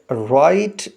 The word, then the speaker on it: write: Silent letter والا ہے جس کے اسپیلنگ ہے WRITE، لیکن جب اس کو پڑھیں گے تو W سائلنٹ ہونے کی وجہ سے آواز نہیں دے گا اور ہم اس کو R سے شروع کر کے پڑھیں گے، رائٹ، WRITE، رائٹ۔ Next sentence: The birds